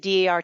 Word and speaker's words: DAR: national bylaws oh and always pronounce each letter d a r don't take a shortcut and call it dar number two we are